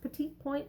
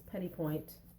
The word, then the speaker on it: petit point: which is petit point I don't think it's pronounced petit point I think it's petit point this is a 20